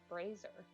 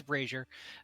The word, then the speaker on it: brazier: I thought it was pronounced brazier. I've been pronouncing it wrong my whole life. It's brazier. Like It's free braziers with fire.